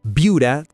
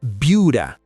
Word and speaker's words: Buda: Buda, Texas. Primero lo primero, se pronuncia Buda, no Buda.